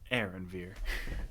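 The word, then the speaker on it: Anvir: yeah now Mr maritime you may call me Aaron Veer Aaron's here oh okay that's very nice uh can you spell that for me AR a-n-v-i-r that's almost amavar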